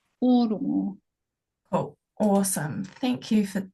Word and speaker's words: Ōrongo: Ōrongo.